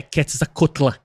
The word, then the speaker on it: Quetzalcóatl: Tipo, eu falo a pronúncia Quetzalcóatl porque eu acho mais legal. Mas a pronúncia correta, tá, gente? Pra vocês não pensar que eu tô falando qualquer coisa, é Quetzalcóatl. Tá? É a pronúncia correta do nome dele.